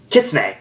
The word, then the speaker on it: Kitsune: KitchenAid or yeah I erase the way to pronounce it sorry the long day Kitsune yeah that's it yeah maybe they're gonna be